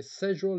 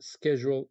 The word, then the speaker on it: schedule: Okay, schedule is the British pronunciation and schedule is the American pronunciation.